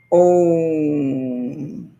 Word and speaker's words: Om: So knowing that, and it's pronounced when you blend it all together, it comes out Om.